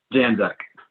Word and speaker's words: Janczak: Janczak.